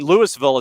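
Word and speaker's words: Louisville: golf in well and Lewisville is actually the pronunciation for the town in Jefferson County in the state of Georgia that was one of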